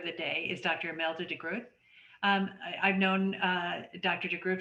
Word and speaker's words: de Groot: name i think because the g is very difficult for people not from the netherlands so yeah but it's a soft one the road so